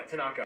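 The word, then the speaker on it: thanaka: You forgot to mention that Tanaka, am I pronouncing that right? Yeah, Tanaka.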